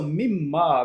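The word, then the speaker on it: مِمَّا: So mimma, when we combine it, we read it like mimma.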